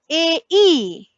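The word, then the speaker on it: ä: A umlaut is pronounced as a e, a e.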